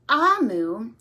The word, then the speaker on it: Omu: here it says note to the reader it's pronounced amu and it's from nigeria but in this book